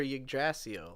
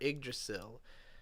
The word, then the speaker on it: Yggdrasil: It's short for Yggdrasil or Yggdrasil. I've heard it pronounced either way, but it's the Nordic tree of life.